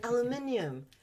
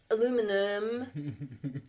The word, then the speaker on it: aluminium: Like, and then aluminium. Well, it's fucking spelt with an I-U-M. You say the I. You don't go aluminum. Where's the I in aluminum?